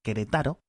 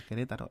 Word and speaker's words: Querétaro: que por cierto, me he tirado toda la vida leyéndolo como Querétaro, y ya desde hace 5 o 6 años te escuché pronunciarlo por primera vez y era Querétaro, y aún así Sí.